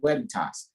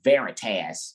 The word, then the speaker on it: Veritas: And the V in Latin is pronounced like a W. What? Instead of veritas or veritas, is Veritas.